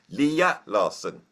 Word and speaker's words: Lea Larsson: to have and I've just been told the pronunciation Leah Larson who is a Swedish metal drummer how are